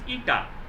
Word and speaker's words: eta: This pronunciation is eta, not n. এটা কিন্তু eta, হ্যাঁ, eta.